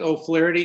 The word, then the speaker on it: O'Flaherty: secretary uh mr chairman my name is o'flaherty can you hear me yes sir i i